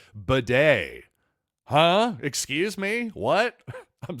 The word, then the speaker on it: Badie: whole lot to Tyler batty so far in his career because he said well you know what actually my name is actually pronounced more like bedet huh excuse me what